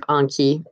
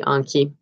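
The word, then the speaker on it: Anki: to inky the software i'm gonna keep saying ink instead of Conti I I can't say on key even though that's the correct pronunciation anyway so I'm gonna go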